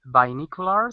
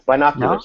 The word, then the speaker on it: binoculars: a man holding uh how do you say bicular or ah no he's H using maybe bottles I think so no no no it's binoculars binoculars binocular binoculars binoculars